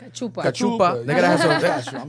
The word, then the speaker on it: cachupa: They gotta have some, what's that, how you pronounce it? Cachupa. Cachupa.